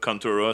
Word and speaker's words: Contra: Contura, c'est comme la prononciation en japonais de Contra.